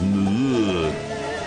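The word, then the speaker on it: Moorea: to get away from them, we're off to the neighbouring, soon-to-be-ruined island paradise of Muur, which is pronounced by the locals as Muur.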